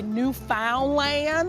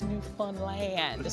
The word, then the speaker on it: Newfoundland: They've even dealt with me messing up the pronunciation because I wanted to say Newfoundland because that's what it looks like. Then I wanted to say Newfoundland, and then they worked with me to understand that it's Newfoundland.